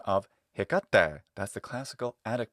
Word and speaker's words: Hecate: Well, we take Hecate and we get Hecate in classical Latin.